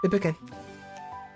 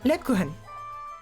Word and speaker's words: Lebkuchen: I think it's like, this is clearly German, with the way clearly from the text from before the main menu, and also the characters' names. Lebuchen. Name. Pronunciation. They're honey-sweetened German cakes, molded cookies, or bar cookies that have become a part of Germany's Christmas traditions. One second. 1 second, please. Lebkuchen. Lebkuchen. Lebkuchen.